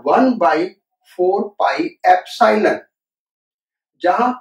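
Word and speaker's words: epsilon: ये जो नोटेशन है इसको हम प्रोनाउंस करते हैं एप्सिलॉन।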